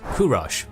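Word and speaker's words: Kūruš: This boy known as Kurosh by old Persian pronunciation, but to us as Cyrus, came into the world at the royal palace of Ecatana in 600 BC.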